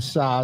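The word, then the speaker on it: Saaz: I think the saw that's spelled S A A Z for those that don't know is one of the noble hops, right?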